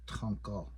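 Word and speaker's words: tȟaŋkál: So the word for outside is tonkal tank. Okay. So I had to insert here a different kind of orthography to show you that it doesn't make that D sound, right?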